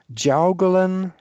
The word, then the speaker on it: Jiaogulan: pronounce this right, but it looks to me like it's supposed to be pronounced Jaugelan herb. And because of the way I'm pronouncing this, I'm going to spell it.